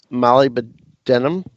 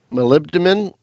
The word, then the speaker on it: molybdenum: on so oh I know how do you pronounce this this mineral ah Molly but denim molybdenum okay molybdenum I've got it okay I'll put